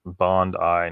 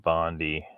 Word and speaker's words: Bondi: are talking about um it's pronounced bond i not bondy what the heck's a